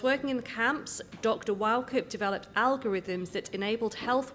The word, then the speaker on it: Wauchope: Wauchope. It's all right. It's Scottish. It lends itself to mispronunciation.